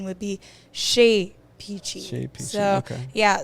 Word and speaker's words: Chez Peachy: But the correct French pronunciation would be Chez Peachy. Chez Peachy. So okay. Yeah, so it has like a little accent in it when you pronounce the E instead of the A.